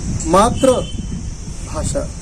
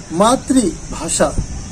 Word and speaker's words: मातृभाषा: ऊपर क्या लिखा है, मात्र भाषा, माँ नहीं मात्र भाषा। कितना बड़ा अर्थ का अनर्थ हुआ। बोलना क्या चाहिए था, मातृ, MATRI, मातृभाषा। यह उच्चारण है।